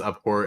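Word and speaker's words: abhor: So it's um pronounced upport and it's basically like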